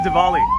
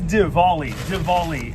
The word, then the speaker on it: Diwali: So it's Diwali. It's D-I-W-A-L-Y. Diwali. I don't think the W is pronounced Wally, so I think it's Diwali.